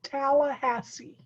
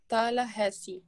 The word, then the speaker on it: Tallahassee: It's called Tallahassee. Tallahassee.